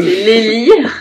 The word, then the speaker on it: Lélie: Alors Lélie, c'est vrai qu'on a plusieurs prononciations, hein. Le lit, c'est Lélie.